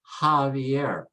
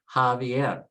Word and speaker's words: Javier: So the J becomes an H sound, like in the word Javier, Javier.